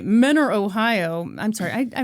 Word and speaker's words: Mentor: Mentor spelled M It's pronounced Menor.